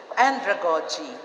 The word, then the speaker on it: andragogy: and andragogy thank you the pronunciation is first accent of the first syllable hindi pedagogy hindi andragogy pedagogy andragogy okay okay this is